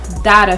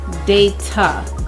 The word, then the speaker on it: data: Okay, it's not data for us, but it's data.